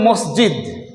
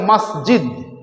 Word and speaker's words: মাসজিদ: অরিজিনটা উৎপত্তিটা আরবি থেকে আরবিতে আসলে কথাটা ছিল মসজিদ মাসজিদ আমরা বলি মসজিদ আসল কথাটা হলো মসজিদ